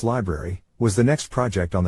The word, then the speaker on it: LBRY: various and unrelated forms lbry pronounced library was the next project